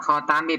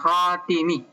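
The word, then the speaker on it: خاتِم: Kata "khatami" dibaca dengan fatha pada ta dan kasra pada ta, " khatami" atau... "Wal kasru ash-haru," membacanya dengan kasra lebih terkenal, lebih terkenal dibaca sebagai "khatimi," " ay-yihim," "ay-yihim" berarti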